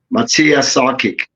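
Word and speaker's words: Matija Šarkić: the brother on screen say his name again Matia sakic there you go Matia hen I hyen J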